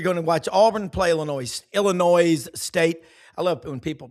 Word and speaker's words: Illinois: I know you're going to watch Auburn play Illinois State. I love when people pronounce it with the S. It's It's a silent S, like the E on the end of Brown.